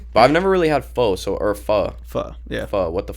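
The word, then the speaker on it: phở: Isn't it pho? It's pronounced pho actually. I've really never had it.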